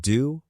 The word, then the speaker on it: Do: Marshall Applewhite, now called Do, pronounced like the musical note, had refined his theology over two decades.